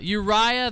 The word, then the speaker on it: Uriah: brother uriah the hittite i knew you zaya didn't sound right uh uriah the hittite thank you brother jared i knew i i knew some syllable there wasn't wasn't striking me just right uh so psalms chapter